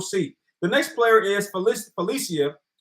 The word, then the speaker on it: Felicia: The next player is Felicia. I believe it's pronounced Felicia, not Felicia, Felicia.